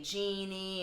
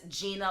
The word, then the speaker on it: Genia: Gina is spelled Genia. I know you like to say Genie and all these other names, but it's Gina like Martin. It's just spelled different, all right?